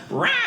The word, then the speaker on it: Ryan: Like, Ryan could not be more simple, but in the South it's pronounced Ryan. It's like an R in 4 pages of eyes and a soft N.